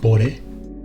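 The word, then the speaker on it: 惚れ: And you may also see this word as a suffix, pronounced bore.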